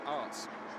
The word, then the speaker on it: Aerts: In the Renault, it's Tarek Bushman, Loris Garnier and Lewis Bentley, Angelo Scoot, Kevin Rishley, and Nick Aerts is in Nick Arts is the correct pronunciation there, are in the Audi.